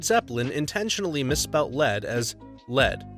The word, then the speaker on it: Led: They were concerned that lead would be pronounced like the Warriors blew a 3-1 lead to the Cavs, rather than lead, like, there's too much lead in the water supply.